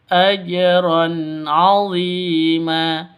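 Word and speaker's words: أجرا عظيما: Ajran azima, tidak boleh didengungkan pun tidak boleh. Ajran azima, salah. Yang betul ajran azima, seperti itu.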